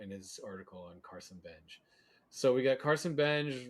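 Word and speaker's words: Benge: Benj, It's not Bengi, not Benji. Benj, Benj. It's the It's Benj. like engine with a B without the ine.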